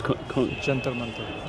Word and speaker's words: Jantar Mantar: And how do you pronounce the observatory? It's Jantar Mantar.